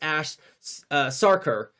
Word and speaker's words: Ash Sarkar: I butchered poor Ash's name. It's Ash Sarkar, not whatever I was saying before, just so strike it from the record.